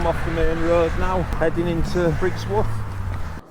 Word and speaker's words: Ruswarp: Ruswarp. It's spelt Ruswarp. But if you come from round here, then it's Ruswarp.